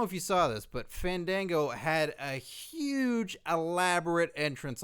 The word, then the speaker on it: Fandango: bit until you say his name properly uh fego no you you've got to say his name I don't know who you're talking about F Fango no no no no no guys I think